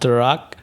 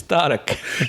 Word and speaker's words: Tarak: My name is not Tarak. It's not Derek. It's Tarak.